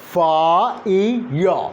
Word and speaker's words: fire: So fire. There is no r at the end, as we sometimes mistakenly assume. This is not the actual pronunciation, rather the mistaken pronunciation, and that's because of the L1 interference.